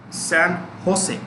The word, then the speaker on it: San Jose: headquartered in a place called san jose it's pronounced actually sam jose what is it the jay is pronounced within